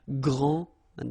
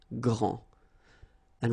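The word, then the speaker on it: grande: you don't the day here and you don't pronounce the final s okay so gr and then same thing here gr and regarding the feminine form you will pronounce it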